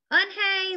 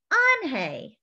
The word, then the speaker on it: Unhei: his eyes wide open anhei looked quickly at mr kim then turned to joey she nodded slowly yes it's pronounced anhei and it means grace mr kim said anjay joey said slowly and